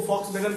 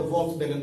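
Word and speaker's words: Volkswagen: ऐसे इसको फॉक्सवैगन कहते हैं, लेकिन हम लोग देहाती स्टाइल में इसको भी से लिखा है तो वॉक्सवैगन कहते हैं, लेकिन इसका ऐसे प्रोनाउंसिएशन फॉक्सवैगन होता है।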